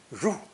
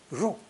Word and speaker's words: 入: The origin of enter or entrance is a simple drawing of a cave opening, pronounced fourth tone, 入, 入.